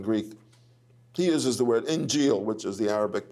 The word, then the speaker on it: Injil: word gospel in Greek he uses the word injil which is the Arabic pronunciation of Evangel he said God gave the